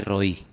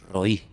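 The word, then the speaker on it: רֳאִי: Porque pastor se pronuncia exactamente igual que el nombre que Agar le puso a Dios para definirlo.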